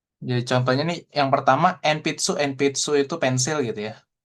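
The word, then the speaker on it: えんぴつ: Jadi contohnya nih yang pertama enpitsu enpitsu itu pensil gitu ya. Kayak gitu. Enpitsu. Cara bacanya pakai M gitu ya. Tapi hiragananya sih hiragana N di sini. Seperti itu ya. Hiragana N. Tapi bacanya enpitsu.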